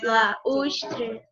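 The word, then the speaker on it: balaústre: Balaustre Então, ó, é hiato. Balaustre. Muito bem. Balaustre. São 4 sílabas.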